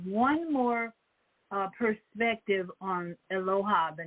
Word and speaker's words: Eloah: want to look at aloha now you can see on the screen it's spelled e-l-o-a-h it's Aloha that's the best pronunciation I'm going to do